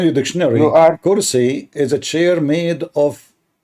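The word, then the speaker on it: كرسي: I mean, it's kursi, not karasi.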